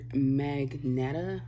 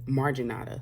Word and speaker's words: marginata: is a bi-color by color goodness a bi-color magneta i never pronounced it marginata sorry marginata bi-color and it's called that because